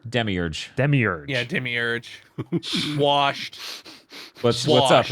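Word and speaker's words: Demiurge: I don't know how to say this one Dem merger Demi urge Demi urge yeah Demi urge swashed up Agro I'm sorry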